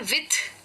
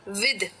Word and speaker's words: with: तो ये जो वर्ड है WITH, कई लोग इसको प्रोनाउंस करते हैं विथ, यानी कि सॉफ्ट टीएच के साथ। गलत है, सॉफ्ट टीएच के साथ नहीं, इसे हार्ड के साथ प्रोनाउंस करना होता है, यानी कि ये हो जाता है विद। विद, तो जी ये जो टीएच है ये द का साउंड ले लेता है, विद।